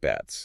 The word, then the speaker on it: Betz: And to understand it, we have to look at a German physicist named Albert Betz.